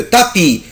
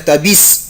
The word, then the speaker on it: tapis: لو تابي. جو نو برونونس با لا لتر اس، مش بنطق حرف الاس. يعني حد يقول لك تابيس، غلط، اسمها تابي.